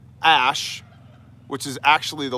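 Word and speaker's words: Æ: I do believe his most recent child was named X Ash A12, and the reasoning behind this was X is the unknown variable in both, math and science.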